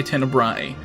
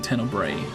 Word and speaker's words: Tenebrae: I think they say Tenebrae, but I would totally pronounce it Tenebrae, but it's whatever.